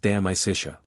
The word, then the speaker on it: De Amicitia: We've finished Livy and De Senectute and are now engaged with De Amicitia, pronounced De Amicitia.